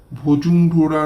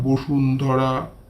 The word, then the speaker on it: বসুন্ধরা: আর এ মশায় ভজুমঢোরা নয় ওটা বসুন্ধরা।